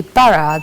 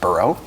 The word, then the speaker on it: borough: So I think this should be bara, the very last word that we have mentioned. Exactly. Great job. And it can also be pronounced borough.